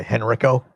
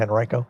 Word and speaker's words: Henrico: Oh, Henrico instead of Henrico? Yeah, if you say Henrico like Uncle Rico throwing the football over the garden instead of Henrico.